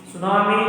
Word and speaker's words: tsunami: Tsunami, the word started with T, but we pronounced from S. So that's why T is the silent letter.